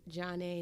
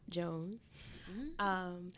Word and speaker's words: Joneé: It's LeezaJonee, and that is Joneé, not Jones.